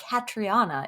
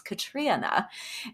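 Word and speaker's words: Catriona: is Little Eve by Katrina Ward. By the way, this is a public service announcement for everybody listening. I just learned how to properly say her first name. It's not Katriana, it's Katrina.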